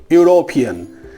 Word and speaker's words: European: Pronounce the word European. It should be like this, Y-O-U-R-O-P-E-A-N, European. And as Y comes as the sound, A should be